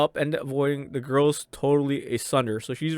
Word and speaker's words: tsundere: The girl's totally tsundere. Oh, did I say that right? Did I finally say it right? Tsundere tsundere. Yeah, holy shit. I always botched that word.